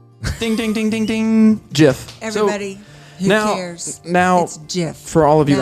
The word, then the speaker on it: GIF: that means the word the intended pronunciation deliberately echoes the american peanut butter brand jiff the compuserve employees would often say choozy developers choose gm that's right so it's jiff so how do you